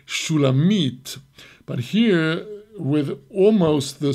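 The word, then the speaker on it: שולמית: correct and it could the correct pronunciation of the name is Shula meat but here with almost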